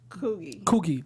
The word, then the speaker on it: Coogie: Like, he's the one who told Ronnie the description of Coogie. That's how you pronounce his name. Of Coogie.